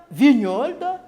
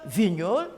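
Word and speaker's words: Vigneault: communique c'est à travers le message pour Gilles Vignols tous les poètes sont engagés ils doivent être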